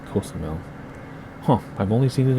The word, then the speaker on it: Cozumel: Now in Spanish, the penultimate syllable always gets an accent unless you see an accent mark. And there's no accent mark, I don't think. So it's Cozumel.